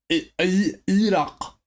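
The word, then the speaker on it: Irac: Conflicts in Afghanistan and Iraq.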